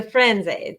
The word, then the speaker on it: Firenze: to talk to our viewers about her, the Frenze. Did I pronounce it correctly?